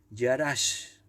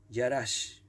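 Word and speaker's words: יָרַשׁ: poseer la palabra poseer en el hebreo es y harás te lo deletreo que es más complicada y a r con acento s h y harás poseer significa adueñarse apoderarse conquistar ocupar hasta cuando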